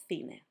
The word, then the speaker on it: cine: When we mix C with E and I, E, I, it will make the sound Th. So, the, thi. The words would be, for example, cerdo or cine. Now, if the sound Th